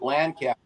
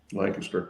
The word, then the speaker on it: Lancaster: we went there and we called it land cap and they go no Lancaster yeah you can't you got